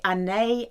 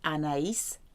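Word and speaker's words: Anaïs: pronounce all the letters II giri's many people pronounce this perfume in correctly they say an a an a but there's two dots over the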